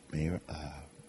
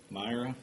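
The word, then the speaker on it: Mayra: Is it Mayor? Myra. Myra. Myra Flores. I just want to say her name right.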